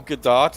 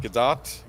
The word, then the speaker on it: Gadot: glitch it's a feature okay uh Gal Gadot is it Gadot I believe yes I believe that's how she pronounces it Gal Gadot is keeping the hope